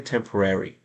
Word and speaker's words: temporary: Este temporary no se dice temporary. Tenga en cuenta esto. Tiene que hacer un pequeño sonido de E.